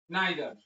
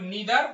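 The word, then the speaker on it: neither: তাহলে প্রথমেই বলছি নাইদার, এটার উচ্চারণ নিদার বা নাইদার, দুইটাই কারেক্ট। তাহলে বাবা মায়ের কেহই না, এটুকুর ইংরেজি হবে সাবজেক্ট।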